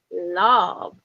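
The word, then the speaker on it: Lauv: those songs out there my second song is by love and it's spelled l-a-u-v and kids are born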